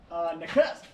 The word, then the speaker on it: Nakusp: How do you pronounce this town where the ferry is? Nakusp.